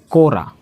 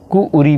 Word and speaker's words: कुरी: लड़की को देखिए कुरी बोला जाता है और इसी को कहीं उच्चारण में थोड़ा सा भिन्नता के कारण से इसको कुउरी भी बोलते हैं। कुउरी जब मिला के पढ़ेंगे तो बोलेंगे कुउरी, और इसको सिमिलर करके पढ़ेंगे तो कुरी पढ़ेंगे।